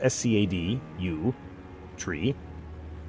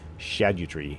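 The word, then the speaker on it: Scadutree: saw a video today it is spelled s c a d u tree but it's actually supposed to be like an Old English pronunciation Shadow tree yeah so I'm going to be calling them scadu tree fragments even though it's supposed to be shadu tree fragments oh well domain of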